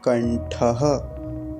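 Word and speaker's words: कण्ठः: करेंगे अगला मंत्र देखिए ओम कंठ कंठ तो एक तो विसर्ग का ध्यान रखेंगे छोड़ेंगे नहीं दूसरा ये जो ठक है ठ है इसके स्थान पर ट नहीं बनाएंगे नहीं तो कुछ लोग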